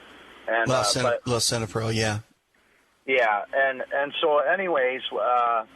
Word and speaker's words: Lisinopril: But now, otherwise, I'm on blood pressure medicine too, which is Linzapril, I believe is how it's pronounced. And Lisinopril, yeah.